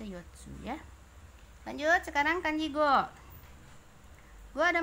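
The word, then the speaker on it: 五: Kemudian secara Ungyomi dibacanya go ya, go.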